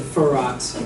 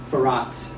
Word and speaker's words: Firat: So it's the second syllable a little bit is the emphasis, because I said Firat, but it's Firat.